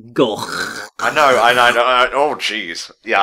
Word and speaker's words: Gogh: Yeah, which is totally fair, because most people do know him as Vincent van Gogh, because that's the mispronunciation that's become popularised.